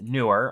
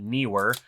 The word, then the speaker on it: Neewer: all products from newer now it's newer I looked it up it's not newer even though that's how it's spelled but newer is a